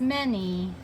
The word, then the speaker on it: many: than one thing too it looks like manny but it's many m a and y o we have two vowel sounds it's a two syllable word many so the y sounds like an e do you remember how